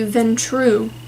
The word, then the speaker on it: Ventrue: Oh, I mispronounced it earlier. It is the Ventrue vampires.